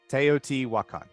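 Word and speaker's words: Teotihuacan: ta I'm not going to be able to pronounce it correctly teot T wakan teot wakan yeah there you go neot teot won there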